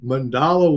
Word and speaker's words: mandala: Is that how you say it, Phil? Yeah. Yeah. Mandala. That's good. Yep. Which is Or one of the mandala. Yeah, mandala is what I would say.